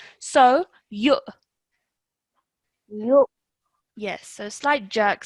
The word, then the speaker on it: يؤ: يؤمنون Okay, I don't know, maybe it's just the mic, but I'm hearing a slight h sound. This is not, this is a hamza sound. So, you. يؤ Yes, so slight jerk sound, okay?